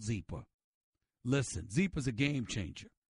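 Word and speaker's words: Zyppah: It's pronounced Zeeper, and it's spelled Z-Y-P-P-A-H. You know why it's easy to remember? Because it's Happy Z spelled backwards.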